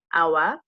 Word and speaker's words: hour: So what you hear first when I say hour, you hear the O, you don't hear the H is silent.